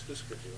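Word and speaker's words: Hüsker Dü: didn't know the pronunciation was Husker Du. Husker Du, yeah. I thought it was Husker.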